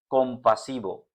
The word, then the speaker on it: compasivo: यहां पे आप देख सकते हैं एंड पे वी है, वी, लेकिन इसको हम क्या कह रहे हैं? कॉम्पासिवो। बी, क्योंकि वी की स्पेनिश में कभी भी वाव